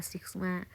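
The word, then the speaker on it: Σ: นะ คะ 10 สมา ตัว นี้ นะ คะ อ่าน ว่า Sigma นะ คะ ที่ นี้ Sigma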